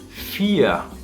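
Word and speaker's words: vier: Por ejemplo, el número 4, volvemos al número 4, que se pronuncia con una F al principio por la V, pero al final de palabra se va a pronunciar como una A prácticamente, que sonaría FIA.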